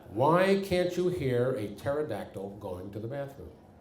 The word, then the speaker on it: pterodactyl: can't you hear a pterodactyl going to the bathroom the p is silent that's right for more